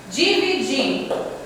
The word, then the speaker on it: dividir: Por que ela é oxítona? Porque a sílaba tônica é a última. O di. Dividir. Você demora mais a pronúncia do di.